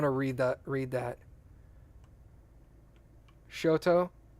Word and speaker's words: Choctaw: read that read that show toe oh that's true that's how you would pronounce that tribes name good polite sorry Kathy